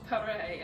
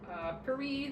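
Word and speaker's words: Paré: I'm told on good authority that that is how you say her name, not Paris as you might think, but that is in fact Paris.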